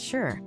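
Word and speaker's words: 四: The number four is pronounced shi, which is also the word for death.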